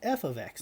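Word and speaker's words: f(x): my independent the name of the function is pronounced f of x now it doesn't always have to be f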